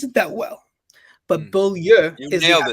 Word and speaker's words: Beaulieu: don't pronounce it that well, but Mm. Beaulieu You is the nailed it.